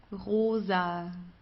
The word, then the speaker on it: rosa: so uh vice vice Rosa Rosa here from the throat don't forget Rosa pink Leela or we